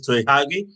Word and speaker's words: Tei Huagie: His name is Tei Huagie, and I asked him how he pronounced his name, but his name is Tei Huagie.